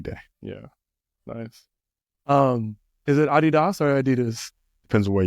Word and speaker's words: Adidas: Internationally, it's Adidas, because Adi Dassler, right? That is the founder, right? That's the name. His name is Adi Dassler. So Adidas. Nice.